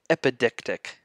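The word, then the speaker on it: epideictic: This one I know how to pronounce better. It's called epidictic rhetoric, and these are proclamations either at or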